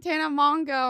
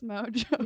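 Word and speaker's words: Mongeau: What did Crystal Oh pronounce yeah, it? you guys Mongo? were like Tana Mongo. I'm like, Mongo. it's Mojo.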